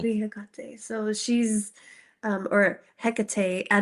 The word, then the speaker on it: Hecate: something would like be Hecate. So she's or Hecate. I don't know. So people pronounce it different ways, but I'm Hispanic, so I like yeah. pronouncing it Hecate.